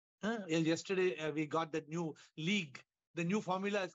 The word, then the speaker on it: LEAG: Yesterday, we got that new league. The new formula is called league, L-E-A-G. The pronunciation is league, not football league, but L-E-A-G.